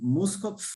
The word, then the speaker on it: Muskopf: minha amiga, dona Muskopf. Sempre tenho medo de errar a pronúncia do teu sobrenome, né? Então, por favor, Muskopf ou Muskopf? Muskop, tá correto.